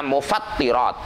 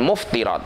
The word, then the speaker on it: mufattirat: Jadi misalkan akan menjelaskan hal-hal yang membatalkan puasa, maka bacanya mufattirat, bukan muftirat, bukan.